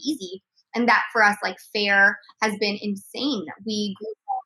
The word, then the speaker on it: Faire: And that for us, Faire has been insane.